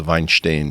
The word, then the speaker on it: Weinstein: o'mine and that's where the family though the vine stain family came from we talked about how many people mispronounce ya Weinstein instead of Weinstein it's it's